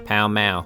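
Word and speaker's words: Pall Mall: called palamaro or palmal the pronunce iation of which can still be heard in London today when locals pronounce the street name of the same name pow ma but the game a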